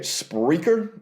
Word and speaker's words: Spreaker: host and i would think you say it spreaker it's spelled s-p-r-e-a-k-e-r that you can host unlimited podcasts